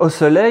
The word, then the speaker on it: osselet: Ouais, osselet ça s'écrit ET et là c'est osselet comme une dent de lait.